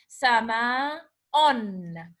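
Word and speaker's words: سماءٌ: But you are pronouncing the na pronouncing na, you feel that you are saying na at the end, but this na is not written. Okay, that's why we call it tanween, because the na that you pronounce it at the end, it's not written in the word.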